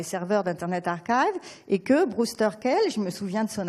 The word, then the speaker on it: Brewster Kahle: Un mot encore à propos des données, parce que j'ai bien aimé quand Valérie Schaeffer a parlé ce matin de Brewster Kahle. Donc là, je prononce bien, merci.